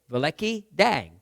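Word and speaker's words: Великдень: you anyways the Ukrainian word for Easter I'll pronounce it in Ukrainian Ving and literally means if big day vei dang big day Vang in the earlier years of my growing up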